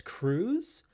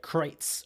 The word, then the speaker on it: Kreuz: Like a lot of people tend to think it says cruise, but then somebody told us they're like, no, it's German. It's supposed to be like Kreuz or something like that.